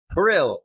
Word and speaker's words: Krill: Krill with a K, right? Like Churchill, but Krill.